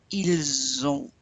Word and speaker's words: ils ont: When you're saying they have, you say ils ont. Make the Z sound.